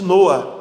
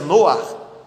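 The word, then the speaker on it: נֹחַ: Um bebê, o filho do casal Samuel e Vanessa, que tem o nome exatamente de Noa, que é o nome hebraico, a pronúncia hebraica do nome Noé, né?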